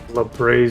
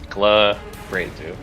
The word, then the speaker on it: Glabrezu: Glabrezu. Oh, I heard you say Labrazu. I didn't hear the hard G.